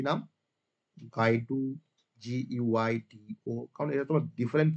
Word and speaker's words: Guido: গাইডু ভন রাসম বলে একজন scientist ধরো, যে কিনা পাইথনটাকে ডেভেলপ করেছিল। কি নাম? গাইডু, GUIDO।